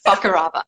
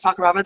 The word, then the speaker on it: Fakarava: of Rangiroa and Fakarava, everyone's favorite island to pronounce. Fakarava. So it is Rangiroa and Fakarava.